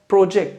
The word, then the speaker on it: project: बट इसका जो correct pronunciation है नाउन के केस में वो है फर्स्ट सिलेबल को स्ट्रेस करना। They working on द प्रोजेक्ट together.